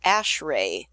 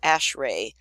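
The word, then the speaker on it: ASHRAE: standards for HVAC stuff is called ashray that how you say it ashray and that stands for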